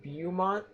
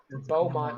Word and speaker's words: Beaumont: lot of things impacting beaume on their way around God say it right Beaumont I don't know sorry